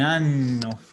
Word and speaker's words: anno: Un anno fa ho visitato San Pietro. Mejor. Un anno fa ho visitato San Pietro. Ya, no, siempre les recuerdo la importancia sobre todo de la palabra anno, pronunciarla bien.